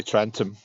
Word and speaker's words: Trentham: I mean, but if you say it properly, obviously you could say Trentham, Trentham, but you just say Trentham. You just don't say ham at the end.